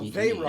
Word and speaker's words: Veyron: But EY is still pronounced A. Yeah, it's pronounced A. So Veyron.